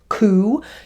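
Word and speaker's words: cū: You would have had the word cow, which would have been pronounced coo, you would have had the word steer, which would have been pronounced steor.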